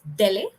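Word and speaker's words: DELE: you can go for the d-e-l-e it's called as Delhi it's the official government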